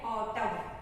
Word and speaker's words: autumn: N इसमें silent है. ऑटम means पतझड़, जिसमें अभी हमारा कौन सा सीजन चल रहा है?